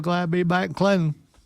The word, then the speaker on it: Clinton: So glad to be back in Clinton. Because they don't pronounce the T, which is just weird. Clinton. It's Clinton.